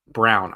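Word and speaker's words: Braun: Brun and it it brown I forget he pronounces his name Brown because it just makes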